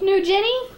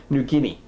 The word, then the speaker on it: New Guinea: Meanwhile, Nim funded a study to ascertain how people in Papa New Guinea think about their own relationships in the real world world. New Jinny. New Guinea.